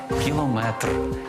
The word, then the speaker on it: кілометр: кілометр чи кілометр запам'ятайте у цьому слові наголос падає на останній склад кілометр так само не сантиметр